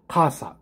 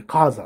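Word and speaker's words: casa: けどねこれねあのだから正しい発音が例えばあお家ですねお家だとしたらカーサなんですけどもうんあのオペラ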